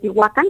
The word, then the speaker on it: Tehuacán: hasta atrás inclusive ahí el watán porque así se pronuncia que tehuacán es precisamente